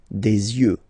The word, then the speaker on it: yeux: Don't pronounce the final X as usual. Des yeux, all right?